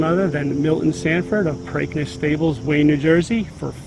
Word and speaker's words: Preakness: Preakness. It's Preakness. Just like replace the P with a B, break, Preakness.